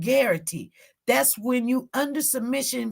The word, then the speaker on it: Garrity: some research it's called guarantee that's what it's called when officers it's g-a-a-r-i-t-y it rhymes with Clarity it's called guarantee that's when you under